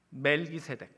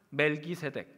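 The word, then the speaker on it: מלכי־צדק: 그 이름은 멜기세덱. 히브리어 정확한 발음은 말키 셰데크입니다.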